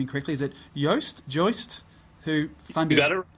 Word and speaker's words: Joost: your conversation with I know I'm going to pronounce his name incorrectly. Is it Joist, who funded...